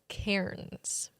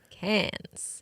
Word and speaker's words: Cairns: For the Canadians, Cairns. Yeah, so there's definitely an R. For the Aussies, Cairns. There's definitely an R in there, but they don't pronounce it.